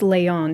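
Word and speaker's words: Leijon: I made sure to look up how to pronounce her last name and it is Leon I always proun it as like Leon like but it's it's Leon I remember drawing her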